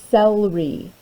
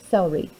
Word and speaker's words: celery: c the word is celery you say Stella we that starts with a c that makes the soft C sound it sounds like an S doesn't it celery these little green leaves